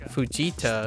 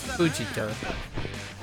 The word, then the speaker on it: Fujita: It's not it's not Fujita, it's Fujita, for example.